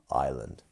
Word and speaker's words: island: But we do miss out that S sound, island.